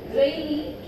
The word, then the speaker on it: rainy: So here the word rainy, not rainy.